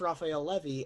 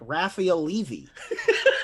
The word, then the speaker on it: Raphael Levy: If it's like if you didn't know how to pronounce Raphael Levy and you were like Raphael Levy. It's Gael Monfils. No, it's Raphael Levy, Gael Monfils. You just have to pretend to be French. Right.